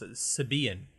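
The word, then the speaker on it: Sybian: The accent is on the second syllable. It's Sibian.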